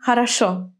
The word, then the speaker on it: хорошо: Why is it on the first syllable in холодно, on the third in интересно, and on the last in хорошо?